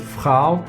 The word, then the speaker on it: Frau: about it now but it is pronounced as frow which is woman frau is woman and dharma was lady